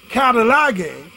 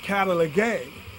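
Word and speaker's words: καταλλαγή: The word reconciliation is from the Greek word katalage, or some pronounce it katalage, and is used 4 times in the New Testament, and it means exchange.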